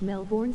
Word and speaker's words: Melbourne: To be fair, when you say Ozzy Osbourne, how do you pronounce his name? There you go, LOL. If you want, I could go full bogan. Full-blown bogan. Explodo! Damn you. You managed to capture it. I wanted to kill it. I pronounce it how you said his name, haha.